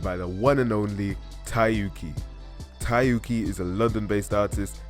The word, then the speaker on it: Tyyuki: all right I want to make sure I'm pronouncing your name right it's tayuki right yep the one and only yeah and